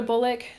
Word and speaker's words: BOLC: BOLC.